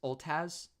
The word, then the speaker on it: Otaz: Lennel Oltaz, which is I actually came up with this idea was actually recent, that her last name would actually be pronounced Oltaz, even though it's spelled Otaz.